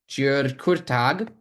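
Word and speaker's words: György Kurtág: I've worked on the music of György Kurtag. His name is Hungarian names are a little tricky to pronounce.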